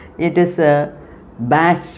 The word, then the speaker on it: Bach: And see regarding the pronunciation it is a bash b a c h uh in the in